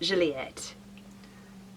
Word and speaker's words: Gilliatt: rear of natira yam I think you pronounce it Juliet and the Callaway is